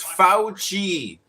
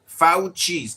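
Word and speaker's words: Fauci: His name is pronounced Fouchi. Fouchi. Get it right pe Fouchi.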